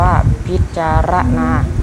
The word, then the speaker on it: พิจารณา: แต่ ควร รู้ ด้วย คำ ว่า พิจารณา อ่าน ว่า พิจารณา หมาย ผู้ ตรวจ ราช